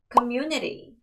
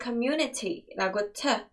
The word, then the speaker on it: community: community, community. 뒤에를 community라고 발음을 거셔도 틀렸다고 절대 치지 않습니다.